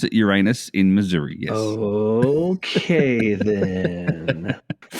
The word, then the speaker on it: Uranus: They pronounce it Uranus in Missouri, yes.